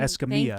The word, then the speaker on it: Escamilla: Escamilla. Thank you. He put the pronunciation Thank you, out.